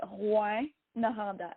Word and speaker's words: Rouyn-Noranda: So it's French, and it's the way you pronounce it is Rouyn-Noranda, and it's really hard to say for most people.